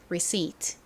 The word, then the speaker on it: receipt: receipat. 여기 P가 들어가서 reip트 이렇게 발음하시는 경우가 있는데 여기서 P는 묵음입니다. 소리가 나지 않아요. 그래서 receipt가 아니라 receip receip 이렇게 발음해 주셔야 됩니다.